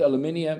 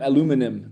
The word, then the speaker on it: aluminium: You know I I stopped using uh deodorant with aluminium aluminum the Americans say it already 25 years ago.